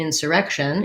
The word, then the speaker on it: insurrection: So an insurrection is a noun, and the stress pattern in insurrection is second to last syllable stress. So the rect syllable is stressed. It has the red tent vowel, sounds like the word red. We have the k sound. So my insur and my shun are short.